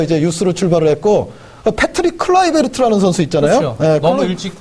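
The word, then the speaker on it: Kluivert: 클라이베르트처럼 우리는 뭐 클루이베르트라고 했습니다만 네. 네덜란드 UI가 이제 I 발음이죠.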